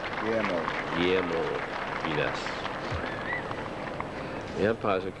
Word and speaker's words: Guillermo: And he worked it out how I could pronounce Guillermo correctly. And the first time I tried it, I stumbled over it. Guillermo. Guillermo.